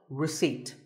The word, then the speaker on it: receipt: in word number 24 receipt the P is silent when you purchase something